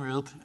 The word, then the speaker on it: Ruppe: My name's Ruppe, and that's the pronunciation, by the way, not that it matters.